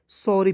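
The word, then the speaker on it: sorry: पढ़ा जाएगा ठीक है एस का उच्चारण स के रूप में करेंगे उ है तो उसका उच्चारण अ के रूप में करेंगे देखिए जब एडवांस इंग्लिश पढ़ते हैं ना जी तो वहां पे ओ का उच्चारण औ के रूप में करते हैं ठीक है डबल आर वाई तो डबल आर का उच्चारण र के रूप में करेंगे अंतिम में वाई है इसका उच्चारण बड़ी के रूप में करेंगे क्या हो जाएगा सौरी एस आई आर तो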